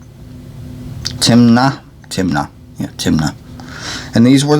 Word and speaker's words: Timna: lotan were i and yeah lotan's sister was timmin tim na timna timna and these were the sons of